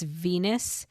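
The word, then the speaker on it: Venis: Well, the interesting part is that one character Ven whose real name is Venus which rhymes with penis in case anyone didn't know that.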